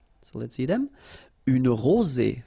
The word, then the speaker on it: rosée: Une rosée. Final E not pronounced.